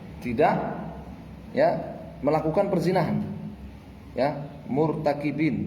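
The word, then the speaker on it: مرتكبين: Ya, murtakibin bacanya ya, murtakib. Ya, bukan martaba.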